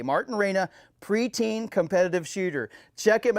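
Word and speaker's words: Reyna: bring it up here so i say it correctly martin reina martin uh r-e-y-n-a martin raina pre-teen competitive shooter check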